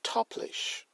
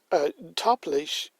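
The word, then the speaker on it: táiplis: And then you have the Irish Toplish. Toplish is T-A-I-P-L-I for the S approximately, which is the modern Irish word for draughts.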